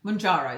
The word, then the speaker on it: Mounjaro: How you say it? Mounjaro? That doesn't sound right. Mounjaro. It's Mounjaro, isn't it? Mounjaro, that sounds better.